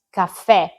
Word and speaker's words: caffè: L'accento grave va verso il basso, come nelle parole teè, caffè, indica che la e accentata va pronunciata aperta, quindi avremo la e